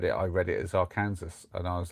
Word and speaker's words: Arkansas: oh, that must be Arkansas. But there's a few places like that where the pronunciation is just not what you'd expect at all.